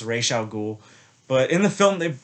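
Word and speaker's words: Ra's al Ghul: him back and i know his name is pronounced ray xiao ghoul but in the film they they call him raz al ghul um killian murphy as scarecrow dr crane is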